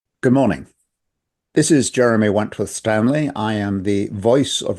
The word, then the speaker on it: Wentworth-Stanley: This is Jeremy Wentworth Stanley. I'm the fellow who has a hyphen in my name. The hyphen is silent, but I am anything but that. Good morning. This is Jeremy Wentworth Stanley.